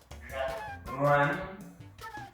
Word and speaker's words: 人: person 你说 when 什么我听不懂 pronunciation 我听不懂 the pronunciation of the R 人 run Yes, you're correct.